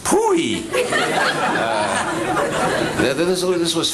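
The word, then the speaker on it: POEE: hurried up that said abbreviated p OA e and pronounced pooey nether the saloon this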